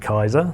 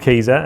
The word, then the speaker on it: Kieser: So the the the first stumbling block I get with everyone is pronouncing it Kaiser but it is called Kiza and it's named after Veriza who was the initial brains behind the the company.